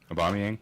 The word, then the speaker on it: Aubameyang: Aubameyang.